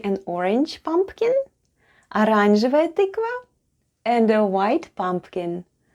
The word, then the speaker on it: оранжевая: The first letter is O, and it's unstressed and is pronounced as A.